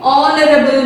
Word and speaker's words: honorable: in the same way honorable man honorable man you should not pronounce your h is silent you should not pronounce h okay are honest honorable